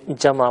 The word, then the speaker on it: جمع: کا لفظ رائج ہے، لیکن ہم اسے جم تلفظ کرتے ہیں، یعنی عین آواز نہیں دیتا۔ ایسی ایک مثال آپ